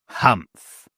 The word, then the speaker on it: humph: Humph, said the sand fairy. If you read this story aloud, please pronounce humph exactly as it is spelled, for that is how he said it.